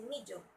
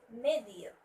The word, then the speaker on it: medium: Okay, another one I usually hear every day is a medium, which should be medium. Medium. The right stress should be at the first syllable, which is medium.